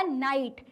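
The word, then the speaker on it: night: Next word है हमारा नाइट। इसमें भी जी साइलेंट है।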